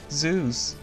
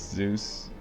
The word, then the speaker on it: Zeus: I sometimes pronounce Zeus as Zeus. I mean, rhyming with Deus.